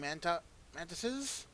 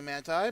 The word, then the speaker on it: mantises: I have just killed these four giant praying mantises. I was going to say manti, but I just recently learned that that's actually the wrong pronunciation.